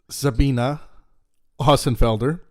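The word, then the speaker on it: Sabine Hossenfelder: to be having uh sabine or as she pronounces it sabina osenfelder on who's a a huge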